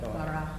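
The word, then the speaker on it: ברא: Bara. Ba. Ra. So you got a R-A, you got a B-A, you got a R-A, and you ended in an A. So bara. Bara.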